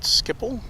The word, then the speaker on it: Schiphol: Hugo says there's a similar experience when you're going in and out of, is it Schiphol, is how they pronounce it, airport.